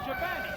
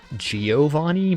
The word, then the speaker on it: Giovanni: The funny thing is he almost gets it right, because a lot of people say Giovanni, but the Italian pronunciation of the name is closer to Giovanni.